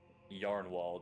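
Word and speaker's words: Jarnwald: you remember the Crypt it's sir yarn wall that's spelled with a j and I break all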